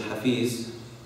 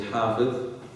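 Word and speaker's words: حافظ: Okay, someone who's Hafidh, okay, usually mispronounced as Hafiz, okay, is actually Hafidh. Someone who's a memorizer of the Quran, you say Hafidh.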